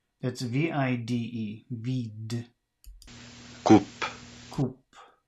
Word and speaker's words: coupe: coupe, Coupe. It's C-O-U-P-E. Coupe. 44. Listen again to these words. Is the final E pronounced? Date, vide, coupe. The answer is no.